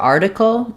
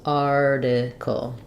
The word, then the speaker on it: article: the r and then for article um first syllable stress article um this T is flapped we have the if sound article um and then a syllabic l at the end the end of the